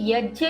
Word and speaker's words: यज्ञ: भावार्थ यहां श्री कृष्ण यज्ञ की महिमा बताते हुए कहते हैं यज्ञ अर्थात जिसे हम लोकाचार की भाषा में यज्ञ कहते हैं उसी का सही उच्चारण यज्ञ है।